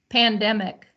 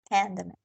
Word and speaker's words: pandemic: the corner 19 yeah pandemic pandemic okay there you go pandemic yeah pandemic pandemic and the dem is the syllable the strong syllable the syllable with the accent pandemic pandemic endemic yeah